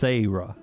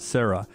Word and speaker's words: Sarah: sarah me too and that's the way she wanted it pronounced sayra not sarah um now i it